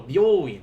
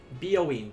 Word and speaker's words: 病院: Byoin. Remember, be careful with that first syllable. Byoin is not byoin. That's a different building entirely. Byoin, beauty parlor. Byoin, hospital.